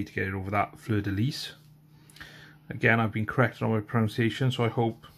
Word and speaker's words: fleur-de-lis: It's okay to get it over that fleur-de-lis. Again, I've been corrected on my pronunciation, so I hope I'm finally doing it right. Fleur-de-lis, because you really pronounce a hard S.